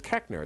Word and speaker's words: Koechner: one can because it's it's mispronounced it should be ker but I grew up in a small town of Missouri and they apparently one German generation after uh uh was dumb enough to not remember it but it's Kenner it's pronounced that's how we pronounce it now that's my real name